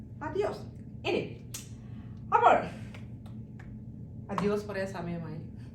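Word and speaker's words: adiós: ഇതിനകത്ത് ഏതെങ്കിലും നമുക്ക് ചേർക്കാം അറിയോസ് എന്ന് പറഞ്ഞാൽ ഞാനാ അദിയോസ് സലുവേഗോ അദിയോസ് നസ്ത പ്രോന്തോ ഗുഡ് ബൈ സീ യു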